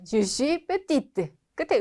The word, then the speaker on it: petite: 자, 요거 발음 안 되죠? 끝에 petit. 근데 을 붙여주니까 petite 발음이 되죠. 마찬가지 요것도 뭐 그랜드 오픈 이런 거 많이 보셨죠? 큰이라는 의미인데 사람한테는 키가 큰 grand 발음 안 되고 있죠? 여성은 grande 발음이 된다.